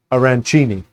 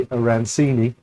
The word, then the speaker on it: arancini: So, I say aranchchini. Other people say arancini.